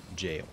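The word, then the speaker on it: gaol: oh boy can't wait I'm pretty sure jail g a o l is pronounced jail the the same as modern day jail I think it's just spelled different where am I going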